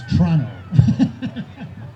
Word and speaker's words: Toronto: and you know tom you don't pronounce the first o in toronto it's toronto oh i didn't know